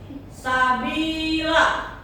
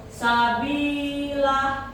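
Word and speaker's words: سبيلا: Mungkin tadi kelompok 3 kelewat, ini adalah mad sabila, itu adalah mad iwad. Ketika mad tobi'i bertemu dengan fathah tain di akhir kata, maka dibacanya bukan disukunkan, bukan sabil, bukan gitu, tapi dibaca fathah. Sabila, ya.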